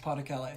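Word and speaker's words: Pas-de-Calais: It's pronounced Pas de Calais.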